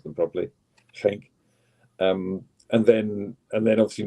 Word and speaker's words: Genk: not many days before the Genk game, should pronounce them properly, Genk, and then obviously not many days.